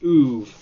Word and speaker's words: oeuvre: I'm guessing they got tired of explaining like the soft R sound to people because that's just a French word for like someone's body of work, like an author's body of work. So they just told people to pronounce it as oeuvre.